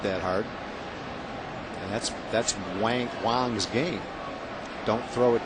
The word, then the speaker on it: Wang: Oh, it's W A N G. Why do they spell it W O N G? Cuz that would be Wong.